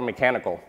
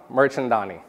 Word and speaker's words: Mirchandani: review on google and they called me dr mechanical it's not that i promise my name is merchandani merchandani like merchandise people who are close